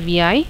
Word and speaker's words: vi: So I am typing the command vi, which stands for visual editor. It can be pronounced as vi, and the editor will be opened like this.